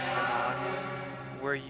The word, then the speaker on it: Venat: I don't know why you pronounce it Venat when it's V as in Victor, E, N as in Nancy, A, T as in Tom.